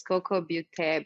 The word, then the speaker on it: Kokobeaute: It's Coco Butte. Beauty is spelled Beaute, and I post every single day.